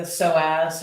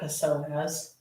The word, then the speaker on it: psoas: Working to open up the hip flexor on the left side, or the psoas, or as I like to say, because of the way it's spelled, the psoas. It has kind of a funny sound.